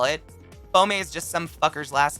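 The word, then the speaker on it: boehmei: it's the uh brackie pelma bommay b-o-e-h-m-e-i i believe is how you spell it bombay is just some fucker's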